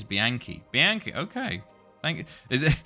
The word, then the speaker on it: Bianchi: The pronunciation of Bianchi is Bianchi.